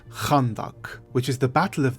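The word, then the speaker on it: خندق: conduct and its Origins the name conduct is actually an Arabic word pronounced more like khandak which is the Battle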